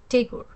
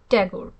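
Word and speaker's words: Tagore: বলতো তাগোর তাগরি বা টেগর আজকাল দেখি বাঙালিরাও টতে একটা জফলা লাগিয়ে বলে ট্যাগর এর চেয়ে শ্রুতিকোট উচ্চারণ আর নেই।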